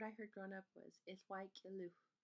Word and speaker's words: 'iłwa'k'iliwh: And the word I heard growing up was Ithwai Kiluch. Ithwai Kiluch. Ithwai Kiluch. And there's other pronunciations with basically the same word meaning parts, but maybe the K is dropped.